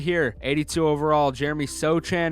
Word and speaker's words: Sochan: Next up on the chopping block right here, 82 overall, Jeremy Sochan or Sohan. I'm pretty sure it's pronounced Sohan. I'm not sure.